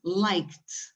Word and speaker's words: liked: When you talk about the verb like in the past, it's not like it, it's liked.